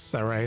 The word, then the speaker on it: Surrey: I know that now know they're pronouncing it as Surrey, not Sari. I'm saying it's Sari, but they're saying Surrey. Actually, I'm going to stick with mine. I like mine better, Grand Surrey.